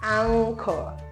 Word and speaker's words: anchor: Anchor. And that ng. So you have this sound that says like ng, but you can't see the G actually because it's not there.